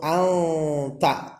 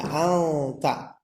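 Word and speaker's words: أنت: Apabila ada nun sukun berhadapan dengan huruf ta disebutnya ikhfa hakiki, dibacanya samar-samar yaitu anta ya, anta.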